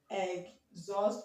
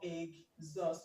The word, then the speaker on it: exhaust: get it and now exhaust this H is silent it's not pronounced okay so we have um we have you can pronounce this as egg egg zust or egg zust okay because the after the after e okay because after es s the next sound we have here is a vowel sound okay the next